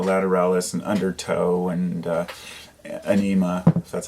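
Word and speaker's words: Ænima: like you know lateralis and undertoe and uh anema that's how it's pronounced um but I was never a tool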